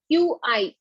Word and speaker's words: Qi: is also called Chi we call it Chi Qi Qi is pronounced as Chi so this CH flows